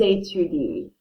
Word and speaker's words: étudient: They study is ils étudient. Do you hear the difference? Hopefully. So if I'm talking about he studies, il étudie. They study, ils étudient. Because this ENT is silent.